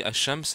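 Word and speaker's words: الشمس: fait qu'en effet que le LaM du soleil ne se prononce pas donc bien sûr ce Lam ne va se prononcer pas chez le soleil donc as Shams c'est tout simplement soleil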